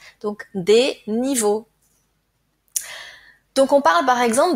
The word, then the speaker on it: niveaux: X donc des niveau comme toujours le pluriel ne se prononce pas donc des niveaux donc on parle par